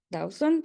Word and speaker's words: Dawson: Silvina Ponce Dawson, sí, así se pronuncia tu segundo apellido.